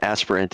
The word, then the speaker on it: aspirant: No, aspirant is correct. It's just that you'll have to spell it out for him. An aspirant. sounded like he said aspirin to me.